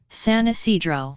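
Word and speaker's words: San Ysidro: San Isidro. San Isidro. San Isidro. San Isidro.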